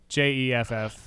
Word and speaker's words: Geoff: Jif, like the peanut butter? No, it's Or- not like Jif, the peanut butter. It's Jeff, spelled the British way, Geoff.